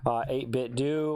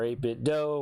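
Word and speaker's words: 8BitDo: and that's all from 8-bit do or 8-bit doe whichever way you would like to pronounce that and uh so that's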